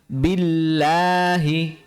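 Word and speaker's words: بِاللَّهِ: Perhatikan cara pengucapan 'lafzul jalalah' di sini. Jadi, kami mengucapkannya dengan tipis, ya. Kami membuat 'lam' menjadi tipis, ya. Mengapa? Karena huruf sebelumnya memiliki kasrah, vokal kasrah, jadi kita membacanya billahi billahi ya, bukan billahi.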